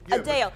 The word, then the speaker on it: Adele: casting the proper concert did you know that we've been pronouncing Adele's name wrong Adele is it a deli it's supposed to be Adele Adele Adele how else can you say it he came and asked me how I say my name and I was like Adele Adele Adele like uh actually hyphen d-a-l-e a Dale but she's got like